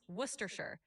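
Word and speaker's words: Worcestershire: It's typically pronounced worershir or sometimes just worcester. The shire part is often shortened so you can say worcester sauce and you'll be good.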